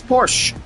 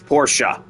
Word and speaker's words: Porsche: It's pronounced as Porsche cuz it's German. So the e at the end of the word makes an a sound.